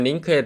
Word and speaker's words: LINQ: 오늘의 링크에 대해서 알아보도록 하겠습니다 링크는 랭귀지 인터 크레이티브 쿼리로 데이터를 읽고 정년 하는 등 7이 기능을 합니다 링크 로 발음하고 요 우리가 아이템 클래스를 만들어서